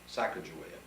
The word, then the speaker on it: Sacagawea: year old girl named you would say Sacagawea and as I get learned since getting involved in Chicago of course I'm using the Shoshone pronunciation because she was she had been of Shoshone and been captured by